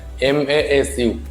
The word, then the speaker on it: ます: like MASU, su. This is ma and this is su, masu, but mas. Okay, mas.